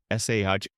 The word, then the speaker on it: sade: Patrons would typically specify their preferred level of sweetness to the kahvesi sade, pronounced sahd, meaning plain, entirely unsweetened.